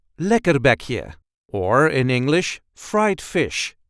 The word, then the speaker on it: lekkerbekje: British Fish and Chips this is how we say leer be here leer be here there is a light emphasis on the first part of the word